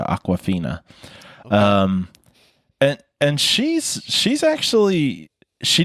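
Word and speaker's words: Awkwafina: name of water but this is spelled very differently it's spelled more like if you were to take the word awkward and turn it into Aquafina and she's she's actually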